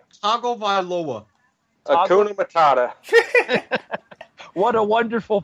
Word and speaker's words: Tagovailoa: And wait till you hear Wait, how's it pronounced? Tagovailoa.